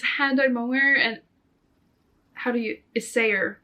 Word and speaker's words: Isager: It's hand-dyed mohair and Isager mohair. That's how you pronounce it. My Swedish ass want to say Isager, but yeah, the shaping, it's not, my mom got it.